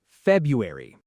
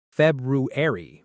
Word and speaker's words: February: Bonus word four, Wednesday's cousin, February. A lot of learners say every letter here, too. February, but native speakers often skip a sound, saying February.